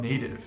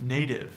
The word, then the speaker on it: native: the same thing with native native native the t between vowels is like a spanish r we call this a flap or a tap in linguistics another thing